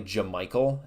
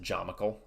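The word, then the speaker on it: Jamycal: I know it's probably Jamichael is how it's pronounced, but it's so much more fun to pronounce it Jamichael. It sounds like a fictional creature almost, a Jamichael.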